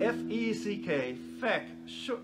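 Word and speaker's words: feck: you know in ireland the word f-e-c-k a short e sound is not a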